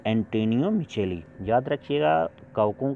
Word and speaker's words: Micheli: कवक विज्ञान के जनक पी एंटोनियो मिचेली को कहा जाता है। कहीं कहीं पे देखिएगा मिकेली भी लिखा मिलेगा, पी एंटोनियो मिकेली, लेकिन स्पेलिंग आप ध्यान दीजिएगा, पी एंटोनियो ANTANIOMICHELI।